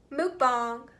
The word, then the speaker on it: mukbang: bank two mukbang three like I say it Mook bong yeah ghostery how do